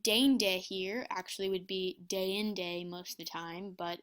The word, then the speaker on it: deinde: And dende here actually would be deinde most of the time, but it's synezesis here, so it's actually only 2 syllables instead of 3.